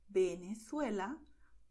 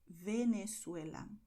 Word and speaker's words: Venezuela: letters V, B, because both of them are going to be pronounced as B, as you say ball in English. So generally in Spanish, people will say Venezuela, Valencia, Barcelona, Berga.